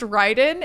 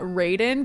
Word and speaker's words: Ryden: It is pronounced Ryden and not Raiden because the name is Japanese and that is the Japanese pronunciation of it.